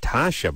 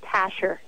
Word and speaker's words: Tasha: I guess I said Tasha before. Did it get changed, or did I screw that up? Actually, no, you just pronounced it wrong. It's Tasher.